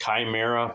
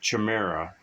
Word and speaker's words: Chimera: The word's actually pronounced chimera, but everybody calls it Chimera. It's just kind of like the caramel thing.